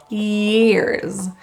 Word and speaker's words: years: The word years starts with a little bit more of a higher tongue position.